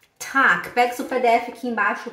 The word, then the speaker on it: Tag: Tag, se escreve com T-A-G, né? No alemão seria T-A-G. G, mas você fala como se fosse T-A-K. Tac.